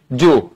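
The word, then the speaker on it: Jew: ইংলিশে আমরা কি বলি জু হ্যাঁ উচ্চারণ কিন্তু জু জিওনা ঠিক আছে এখন পরীক্ষায় আসে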